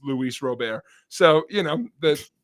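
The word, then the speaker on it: Luis Robert: center fielder you would swear his name is Lou Roberts it's Luis Rober so you know that it's a nice that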